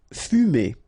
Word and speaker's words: fumer: Fumer. Okay, so U here. U. Fu. Fumer.